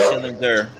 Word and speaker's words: Schillinger: Oh no, I was gonna say widely pronounced or widely considered Vern Schillinger. Mm-hmm. But it's Schillinger, cocksuckers.